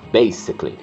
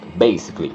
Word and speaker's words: basically: Não pronuncia a terceira letra A.